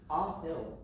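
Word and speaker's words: Aahil: Did I get those right? No. Oh, no. What did I do wrong? Ahill. Ahill. Could you spell that one more time for me? A-A-H-I-L. Ahill. Yes.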